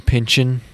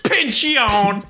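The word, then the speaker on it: Pynchon: bunch of verses from pension yeah i don't know how to pronounce his name it's pension okay it's just thomas pinchion yeah it's just it's just pinch it just sounds like a verb you know like hey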